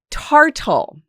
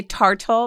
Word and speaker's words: tartle: Tartle. Who? Can you say tartal, my love? Tartal. Tartle.